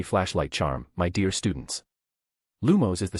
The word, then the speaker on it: Lumos: If you mutter lumus or lamus, you'll get nothing but sparks and shame. A few students chuckled nervously. The incantation is lumos.